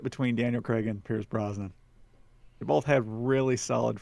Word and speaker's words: Brosnan: I'm gonna say Pierce Bronson. Is that how you say his name? Pierce Brosnan.